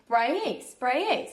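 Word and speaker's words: Braies: gonna do the cable car, and then Lake Spraye, so that is how you say it.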